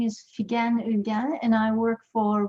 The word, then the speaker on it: Figen: If you're trying to catch the pronunciation of my name, as I get that question a lot, it's Figen with a hard G, as in the word figure, and that's a great